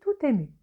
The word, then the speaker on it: tout ému: On fait la liaison, c'est-à-dire on relie la consonne finale T du mot tout, habituellement non prononcé, avec le mot suivant ému, qui commence par la voyelle E. Et on dit tout ému.